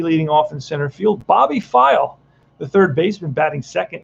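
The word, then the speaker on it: Pfeil: bobby's file is next that's actually how you pronounce his name bobby file and that's an 8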